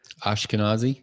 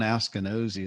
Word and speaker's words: Askinosie: Ashkenazi. Is that how you say it? I don't know. Sean Askinosie is how I say it.